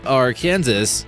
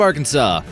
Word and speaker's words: Arkansas: accidentally pronounced this state are Kansas you'd essentially be breaking the law in the state of Arkansas ever since 1881 it's been illegal to pronounce the S this is supposed to